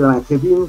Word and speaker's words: Langevin: Bueno, se escribe Langevin, se pronuncia Langevin.